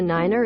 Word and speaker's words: Niner: second syllable Tango Yankee because nine sounds too similar to five over a radio did I catch a Niner in there what were